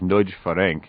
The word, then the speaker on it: Nagy Ferenc: to convince Ferenc Nagy, actually that's pronounced Nagy Ferenc in Hungarian, to jump to the U.S., although he later denounced Vajda.